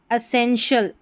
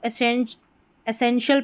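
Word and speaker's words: essential: जैसे यहां पर दे रखा है लास्ट में शल पार्शियल एसेंशियल। एसेंशियल की जगह इसको एसें एसेंशियल पढ़ दें आप ए का साउंड करके और एसेंशियल भी पढ़ते हैं तो यह भी करेक्ट है।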